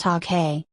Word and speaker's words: Ake: Ake, pronounced Ake, was one of 142 people killed when the plane, operated by a local airline, Aviation Development Company, crashed, leaving no survivors.